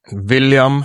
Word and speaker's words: William: Which you still pronounce with a V. Yeah, we still pronounce them V. William. For instance.